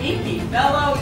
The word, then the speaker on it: Kiki Bello: Inky, Bello, you are just fabulous.